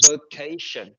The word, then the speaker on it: vacation: Mọi người chỉ cần lưu ý thôi, tại vì cái đuôi cái từ này nó có đuôi là shin, thế nên là trọng âm của nó sẽ rơi vào trước cái đuôi shin này, tức là nó sẽ rơi vào chữ k. Thì từ này sẽ đọc là vacation.